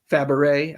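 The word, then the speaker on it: Fabares: mentions Shirley Fabaret. I have the hardest time saying that. I always want to pronounce the S too.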